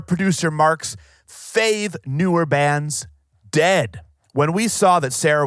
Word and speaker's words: Dehd: please do good sir the band's name is dead it's spelled D eh h d in case you want